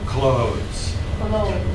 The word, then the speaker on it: clothes: Okay, so you're not going to get the TH in there. Okay, like close the door, same sound.